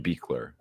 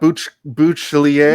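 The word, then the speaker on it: Buechler: I believe his last name is pronounced Beekler. Beekler, not Bouchlier.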